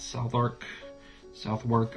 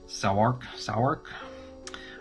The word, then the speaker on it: Southwark: Continuing our trek through the city, we get to pull out Southwark. I know I'm mispronouncing that. Southwark. I think the W is silent. Southwark.